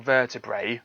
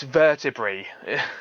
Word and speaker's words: vertebrae: i knew then that people saying vertebrae were incorrect it's vertebrae it's just it's just i just don't understand why people don't know the logic of it i mean it just makes perfect sense to me you know it's it's a e is not i it's e it's that's how it's pronounced anyway um anyway then